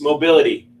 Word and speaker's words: Mobilitie: No, you didn't, but that's okay. Everybody mispronounces it, but you only mispronounce it once. It's Mobility. Oh, okay. I had a French tang on it. Mobilitie. I'm sorry. No, Mobility.